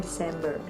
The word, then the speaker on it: December: December juga bacanya pakai S, tulisannya aja yang beda, December, tapi bacanya December, pakai S juga.